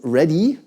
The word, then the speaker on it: RHDE: So I did, which is with RHDE, short term is the acronym, "ready", if you pronounce it in an American style it gets "ready", that works nice.